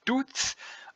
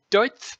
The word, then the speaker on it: Deutz: Some people pronounce us as Deutz. I say Deutz because it's a German company, Deutz.